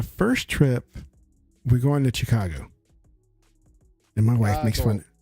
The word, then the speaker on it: Chicago: Chicago because they say you don't say Chicago it's like that's how it's spelled Chicago and no it's Chicago and so not C you got to use a s sound I I say Chicago